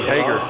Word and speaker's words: Hager: And Mikey, one of my favorites, Mikey Hager. Yeah. There you go. You got his name right, Coach. You normally call him Hagar.